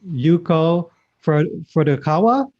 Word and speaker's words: Yuko Furukawa: Today, joining us from Maui, Hawaii, we have Yuko Furukawa. Hope I'm pronouncing that correctly.